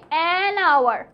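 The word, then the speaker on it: hour: হবে a history বুক কেমন কিন্তু এটা হবে আওয়ার কারণ সময়ের আগে হ উচ্চারণটা হয় না same goes for honest honest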